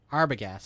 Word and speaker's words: Arbogast: Arbogast, I believe. Arbogast.